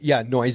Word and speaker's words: Noyes: Is it Mally Noyes? Mally, Noyes is the right way to say it.